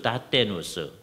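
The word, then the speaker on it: Dathenus: 아주 대표적인 사람이 페트루스 다테누스 또는 다트헤인이라는 같은 사람인데 이게 라틴어로 하면 다테누스고요. 화란어로 발음을 하면 다트헤인이라는 사람인데 이 사람은 화란 개혁파 교회의 예배 의식에 토대를 놓은 사람이다.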